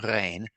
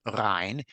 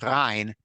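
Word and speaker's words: ריין: It is spelled correctly, and in standard Yiddish, it's pronounced rein. But in poetry, you want it to rhyme properly, and Gebürtig would have said Rhein, even though he would have spelled it just as we see it. And so Bob pronounced it well for this particular purpose.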